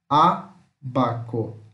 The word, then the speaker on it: ábaco: Como o acento está no A, essa sílaba é mais forte. Então, é uma proparoxítona, ó. Abaco.